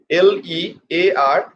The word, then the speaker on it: learning: Learning. What will be the pronunciation, dear student? You can see I have divided the word into 2 syllables. Learning. La. Put pressure on the first syllable.